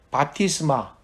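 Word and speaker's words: βάπτισμα: 세례에 해당되는 신약 성경의 헬라어 발음은 바티스마.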